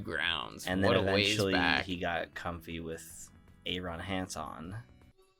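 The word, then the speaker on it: Arin: he got comfy with Aaron Hanson although weirdly pronounces it differently so yeah he doesn't pronounce it Aaron a a Ron Hey Hey Hanson yeah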